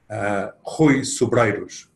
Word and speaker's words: Rui Sobreiros: sessions and that is how to pronounce my name holy sue brightest which you can see on your on your screen well the reason why is so strange because it's Portuguese name and that's that explains